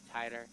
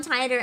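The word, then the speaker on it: Titor: John Titer. Oh, it's Titer, Examination shit. starts. I've pronounced it wrong my whole life. In every single thing where there's a character called John Tyler, I've said it wrong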